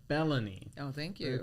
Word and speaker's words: Belony: So Katya Bologna am I pronouncing your last name right? Bellan Bellan I'm glad I asked. So let's do that again. Welcome Katia Bellan.